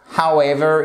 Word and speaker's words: however: However, it was easier than expected. Et là, il faut vraiment vous méfier de la prononciation. However, however, Et vous avez même votre accent tonique sur la seconde syllabe.